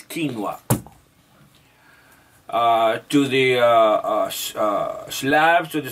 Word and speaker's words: quinoa: South American gods give to the South American people quinoa, and pronounce it like it is, quinoa.